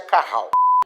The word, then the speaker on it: Cajal: e mais várias células de cajal que pronuncia Caral que são essas células